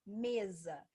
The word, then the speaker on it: mesa: Mesa. Mesa se escreve com S, mas tem um som de Z.